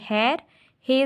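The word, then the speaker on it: خیرخواہ: हे ये रे हैर, हे ज़बर वाव अलिफ हे, तो इसको हम क्या पढ़ेंगे, हा, हैर हा। इसको हुआ नहीं पढ़ेंगे हम, इसको पढ़ेंगे हैर हा, वाव को नहीं पढ़ेंगे।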